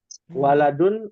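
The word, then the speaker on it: ولد: Jadi jangan sampai bacanya salah. Ya. Walidun, waduh, walidun itu bapak itu. Ya. Waladun artinya anak. Ya, anak laki-laki. Walidun orang tua dari pihak laki-laki yaitu bapak.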